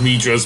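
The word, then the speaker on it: Mithras: So yes, and yes, it is pronounced Mitras because that's how, certainly how Xander Morbus pronounces it when we switch to it.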